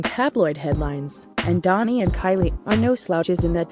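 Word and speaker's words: Kaili: and her half-sister kylie 29 kylie's name is pronounced kylie a fact that's led some to conclude that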